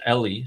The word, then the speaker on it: Ellie: And I think Amir told me his name is actually pronounced, or their name is pronounced Ellie.